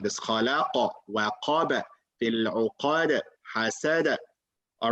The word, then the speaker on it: وقب: Is it wa or wa? وقب. Very good. Waqaba. وقب. Not qab. Remember, don't add an alif after wow.